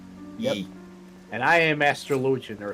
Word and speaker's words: Astrologian: And I am Astrologian, or Astrologian, as some people may pronounce it.